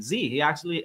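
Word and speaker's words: Zhi: And that actually is what inspired me to name my first son Z. He has a Chinese name, and his name is spelled Z-H-I, and it stands for purpose and will.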